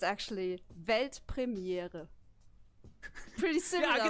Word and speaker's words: Weltpremiere: It's actually Weltpremiere. Pretty similar, I right? Ojo, I could do that. sneak peek, Yeah, do world it. premiere. Weltpremiere.